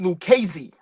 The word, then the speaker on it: Lucchese: The family is pronounced Lucchese.